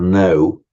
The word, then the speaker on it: know: um meaning to to know and you know as I've explained more than once cognate with know the German kenan and our word to cano we don't pronounce the k but we write it cognate with the Greek